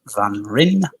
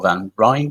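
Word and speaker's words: van Rijn: the name of remant Van Rin or van rine depends on how you want to pronounce it Dutch artist and he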